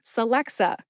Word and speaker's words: Celexa: is the brand name Celexa Celexa has three three syllables sxa about 10 years